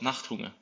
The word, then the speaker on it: Nachthunger: So you have this project called Nachthunger. Am I pronouncing that right? It's a German word called Nachthunger.